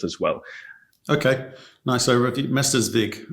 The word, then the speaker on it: Mestersvig: Mestersvig, that's how we pronounce it.